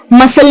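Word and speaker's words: muscle: लेकिन फर्क सिर्फ इतना है कि अगर ये जो सी है ये एस के बाद आता है तो वो हो जाता है साइलेंट। यानी कि जैसे मसल में आया या सीन में आया या सेंट में आया तो आप ध्यान से देखेंगे तो हम साउंड जो है ना वो स का ही यूज कर रहे हैं।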